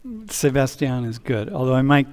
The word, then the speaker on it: Sebastián: So I will pronounce my name properly, Sebastian.